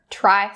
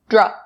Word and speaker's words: try: Now for the pronunciation for these phrases, I'm going to focus on the tr sound in try. Make sure you're not saying dra. Don't say dry. That's not correct. Try. So it should be the voiceless sound.